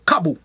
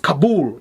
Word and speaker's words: Kabul: the person was saying kabu i said what is that to say well yeah that's kabum i said no is it pronounced kabul not kabu like you see like